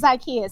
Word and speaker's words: Zakiya: No, that's not right, but No. that's okay. It's Zakiya.